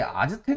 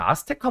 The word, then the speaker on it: 아스테카: 상대적으로 아마 여러분이 마야 문명이나 이제 잉카 문명보다는 덜 들어봤을 텐데 옛날에는 이제 아즈텍 문명이다 이렇게 얘기를 많이 했었는데 요새는 아스테카 문명이라고 얘기를 하니까 여러분들은 발음을 살려서 아스테카라고 읽어주면 좋겠습니다.